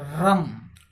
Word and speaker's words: रं: रम रम इसका उच्चारण रम करते हैं हम लोग इसका बीज मंत्र रम होता रा के ऊपर बिंदी अगला चक्र है हमारा